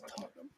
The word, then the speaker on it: Tottenham: I was like, "Oh, it's Tottenham." See. And they're pretty good. Even Sam's like, I know how to pronounce Tottenham these sucks.